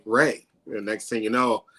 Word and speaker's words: Ray: on my coffee cup I usually say Ray is Ray like the sunshine and so it kind